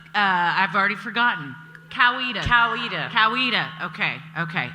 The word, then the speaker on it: Coweta: had three different pronunciations how cowardice cowardice or coweta coweta okay okay in texas i would say kowita but then a woman we're not in texas and i said i don't think so and then yeah google